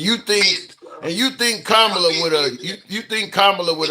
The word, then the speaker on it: Kamala: It's not Kamala, it's Kamla. Like the like a comma punctuation, comma la commla.